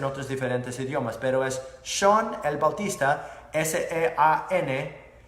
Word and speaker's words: Sean: Sean, se escribe como Sean, pero así se pronuncia mi nombre, Sean.